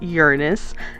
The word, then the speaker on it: Uranus: Of course, I wanted to try to make it look bigger as it went around Uranus, and yes, it is pronounced Uranus, not the other way.